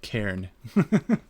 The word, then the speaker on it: cairn: Oh yeah, it comes from Welsh, so it is spelled strangely. C-A-I-R-C-A-I-R-N. So like this, cairn.